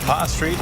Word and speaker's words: Pa'a Street: And check out number 2, video showing that lava flow crossing Pa'a Street. Is that how you say it? Yeah, Pa'a Street in Pahoa on Saturday.